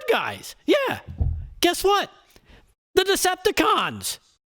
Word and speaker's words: Decepticons: The Decepticons. Well, it's with an emphasis on the last syllable, but you get my point.